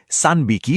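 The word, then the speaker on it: 三匹: আর এখানেও দেখুন, 3এর সাথে মিলে উচ্চারণটা পাল্টে সানবিকি হয়ে গেছে।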